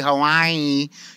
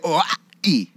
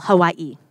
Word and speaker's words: Hawaii: And if you know anything about how they pronounce it, you don't say Hawaii. You say Hawaii. What he's trying to say is you pronounce every vowel, Hawaii. But no consonants.